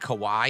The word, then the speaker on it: Kauai: I think it's like Kauai is how it's pronounced.